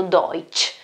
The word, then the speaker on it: Deutsch: una volta viene pronunciato deutsche quindi questa ts ch non corrisponde altro che la che al che i tedeschi altrimenti non avrebbero in realtà il composto